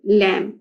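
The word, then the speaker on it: lamb: For example in लैम एल ए एम बी इन लैंप तो and bike the letters लैंप में बी जो है वो आपके पास साइलेंट है।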